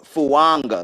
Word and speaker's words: Fuaga: Yeah, the way they pronounce it is fuanga. Like it has an N in it.